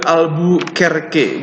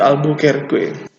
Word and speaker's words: Albuquerque: namanya agak susah ya tapi kalian bacanya the album karaoke bukannya Albuquerque dari Malaka mereka lanjut